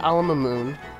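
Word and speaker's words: Al Mamoon: So next time on Ni no Kuni, we're going to be heading back to Alamoon.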